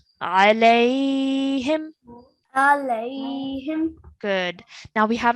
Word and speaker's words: عليهم: It's a ya lean because it's a ya sakin and the letter before carries a fatha, so it's a ya lean. So we're pronouncing as alayhim.